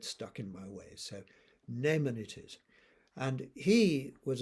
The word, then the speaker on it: Naaman: And then finally, and perhaps mainly, we have the reading from 2 Kings, and that is about Naaman. At least I was brought up to pronounce his name in that way, Naaman.